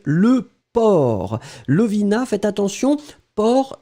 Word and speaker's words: porc: port Lovina faites attention port c'est avec un C d'accord P o r C donc on a on a le port oui donc c'est ça c'est final on le prononce pas hein mais on doit l'écrire allez on continue j'espère qu'il